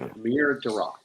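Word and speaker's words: Amir Derakh: Pronounced Amir Darok. Which sounds like I'm here, Darok.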